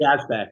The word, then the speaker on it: Yazbek: Yazbek.